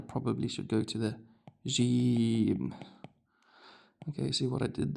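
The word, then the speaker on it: جيم: And the first sound you hear when I say the the name gym, ja ja. Ja, ji, ju.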